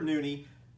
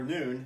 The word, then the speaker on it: Noone: Yeah, we got tickets to some guy named Peter Nooney, or Noon, N-O-O-N-E. It's Peter Noon. Yeah. The E is silent, Brad, sometimes. Yes.